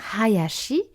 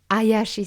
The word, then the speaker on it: Hayashi: Donc c'est bien Hayashi et non pas Hayashi, qui voudrait dire plus rapide, qui n'a pas vraiment la même signification. Ce n'est pas non plus Hachi, qui veut dire 8, comme on l'entend de temps en temps. Et surtout pas, ça je l'entends vraiment souvent, Ayashi Sensei, comme s'il n'y avait pas de H devant.